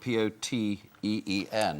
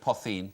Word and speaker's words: poteen: But you put an H in there, so it looks like potheen, but it's poteen with the H. Yep, different Poteen.